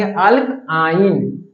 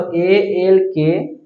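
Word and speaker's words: alkyne: हैं इसको क्या पढ़ेंगे एल्काइन स्पेलिंग फिर से पढ़े तो अल्की इसको पढ़ने हैं एल्काइन कुछ नहीं तो ये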